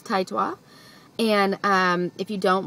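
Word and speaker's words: Taetwa: person to enter so she knows but it's taitwa and um if you don't watch her Channel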